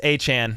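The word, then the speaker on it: Achane: Jared, it's A-Chan. It's not A-Chain, brother. He came out and said how he wants his name pronounced, and he said A-Chan. Everybody that first week was saying A-Chain, but it's A-Chan.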